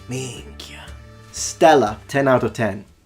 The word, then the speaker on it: Minchia: He said it exactly like a Sicilian would. He has a proper Sicilian accent when it comes to the way he pronounces it. Minchia.